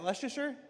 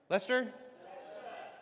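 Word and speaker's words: Leicester: Is that Leasher? Lester.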